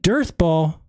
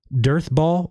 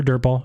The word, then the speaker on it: Dearth Ball: It is going to be the Dearth Ball of the week. Make sure you pronounce that correctly. Dearth Ball of the week. Don't mistake it for Dirt Ball. It's Dearth Ball of the week.